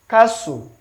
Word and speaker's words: castle: Castle. Castle. The T is not pronounced. Castle.